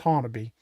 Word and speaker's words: Honobia: Hannon, Oklahoma. And yes, it's pronounc it's spelled Hanobia, but it's actually pronounced Hannon.